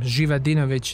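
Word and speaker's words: Živadinović: is that correct yes my last name jivadinovic is a little bit of a tongue twister so it's spelled with z with a little thing on top that sounds in my language so they say doctor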